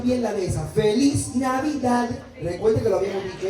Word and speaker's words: Navidad: Feliz Navidad. Recuerden que lo habíamos dicho. Esa D tiene que sonar. Está bien en inglés, lo digamos mal, pero la D la quiero, que se escuche clarito.